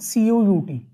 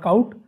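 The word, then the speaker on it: cout: I use this command c-o-u-t okay we pronounce it as C out okay it is not count it is not c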